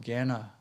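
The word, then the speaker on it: jnana: mental activity is called gana they spell it with uh say with a g but it's spelled j-n-a-n-a ganet yoga and so with ghana yoga we redirect that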